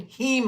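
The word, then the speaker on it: heme: It's got a Hemi engine. That's spelled with an I. This is spelled with an E.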